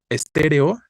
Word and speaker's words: estéreo: sería la respuesta no estéreo es una palabra esdrújula no es t re o es la antepenúltima la sílaba tónica y ya sabemos que